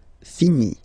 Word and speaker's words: finis: Remember, final S is not pronounced. Je finis.